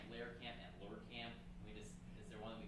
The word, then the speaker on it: Lehrkamp: So I've heard Lehrkamp, and Lehrkamp. Is there one that we can lock in on? Any chance? Lehrkamp.